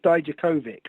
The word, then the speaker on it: Dijakovic: Dijakovic. Or he insists it's Dijakovic with a hard C at the end.